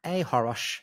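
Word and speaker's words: achoros: And if you want to follow me, I'm at ahorosh, A-C-H-O-R-O-S, the C is silent, on Threads and Instagram.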